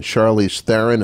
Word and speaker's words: Charlize Theron: there's probably not a better looking actress than Charlize Theron.